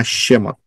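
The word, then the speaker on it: שמות: kedahsyatannya yang luar biasa pertama huruf syin kedua huruf mem ketiga huruf wau keempat Huruf tau bacanya shemot setiap huruf mempunyai piktograf kita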